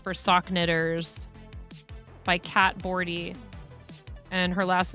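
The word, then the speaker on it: Bordhi: Um, it's called New Pathways for Sock Knitts by Cat Bordy and her last name is spelled B O R D H I.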